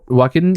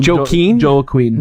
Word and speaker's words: Joaquin: one of our negative reviews that we kept mispronouncing Joaquin yeah walking Phoenix walking Phoenix it's it's Joaquin yeah yeah